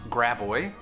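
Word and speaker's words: Gravois: have french names but we don't say them with a french accent we say them with a very americanized pronunciation and i'm going to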